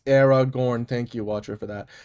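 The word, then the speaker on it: Aragorn: Uh, so yes, it is pronounced Era Gorn.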